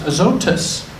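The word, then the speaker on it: Azotus: actually in the Greek language it's it's uh pronounced aotus and so in the book of Acts look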